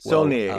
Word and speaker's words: Saulnier: Saulnier, is that how you pronounce his name?